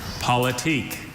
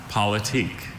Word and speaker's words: politique: Politique.